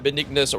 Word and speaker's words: Benignus: Yeah, I can see why Benignus rhymes with Jesus.